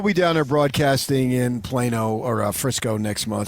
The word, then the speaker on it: Plano: Hey, we got Texans pronouncing it Plano and Plano. Which is it? It's Plano. It's Plano.